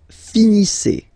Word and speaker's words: finissez: Vous finissez. Vous finissez. Okay, a Z at the end gives you the sound E.